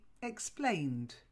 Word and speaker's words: explained: It's a silent E. Explained.